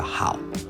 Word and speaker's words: hào: 那生蚝这个产品在越南语叫蚝，就是发音跟我们生蚝很像，只是它是三声蚝。